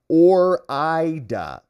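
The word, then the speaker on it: Ore-Ida: He says, hey, moron, it's pronounced Orida, as in Oregon and Idaho.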